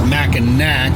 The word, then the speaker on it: Mackinac: to Mackinac City, and we think it's called the Mackinac Bridge. But if you look on a map, it's Mackinac, but I think the C is silent.